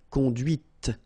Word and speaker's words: conduite: and then the feminine, conduite. Okay, so here you can listen to this t, t, okay, conduite, all right?